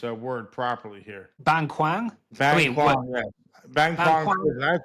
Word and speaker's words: Bang Kwang: And Dan, how do we pronounce this word properly here? Bang Kwang? Bang Kwang, yeah.